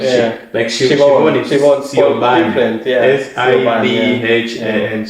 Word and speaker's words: Siobhan: Shivon Siobhan.